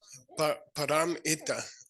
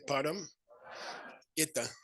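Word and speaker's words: pāramitā: Param ita. Okay, say param ita. Paramita.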